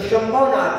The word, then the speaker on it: शंभवनाथ: को लिखा जाता है, लेकिन मुख्य में शंख के श के साथ उसका उच्चारण है। तम शंभव संभव दर्शो वै संतप्य मानस्य जनस्य लोके आसीरिहा कस्मिक एव वैद्यो वैद्यो यथानाथ निजम प्रशांति। तो शंभवनाथ है।